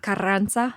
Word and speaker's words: Carranza: Can you roll your R's? Yes. Okay. Carranza. There you go.